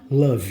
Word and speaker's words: love: As palavras que terminam com E, precedido de consoantes, normalmente o E não se pronuncia.